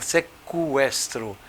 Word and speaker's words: sequestro: Professor tem olha que o que pode ser pronunciado pode por exemplo sequestro você fala sequestro sequestro Ó eu vou falar o hein sequestro